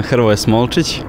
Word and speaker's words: Hrvoje Smolčić: How do we pronounce it right? Pozdrav svima, ja sam Hrvoje Smolčić.